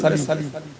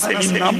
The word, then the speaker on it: সালিম: কলবে সালিম। আমাদের দেশে নাম আছে না সেলিম নাম, চল চল শুদ্ধ হলো সালিম, আমরা বাংলা সেলিম করে ফেলি। কলিমুল্লাহ যেমন কেলি হয়ে যায় ওই রকম আসল শুদ্ধ উচ্চারণ কি? সালিম।